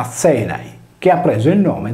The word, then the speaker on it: Ἀθῆναι: come la più importante città greca di Atene, pronunciata Azenai, che ha preso il nome dagli Azeni sardi.